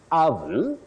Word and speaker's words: oven: me this word is pronounced as oven oven not oven oven or you can say oven oven the O the this o takes what we call the mid Central sound H just like in the word stomach not stomach that we